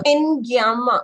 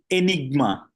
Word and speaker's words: INYGMA: you thank you to inama I hope I pronounced it correct in inma uh actually it is Enigma Enigma I'm sorry that's why I said I I I'm not pronouncing it correct thank you so much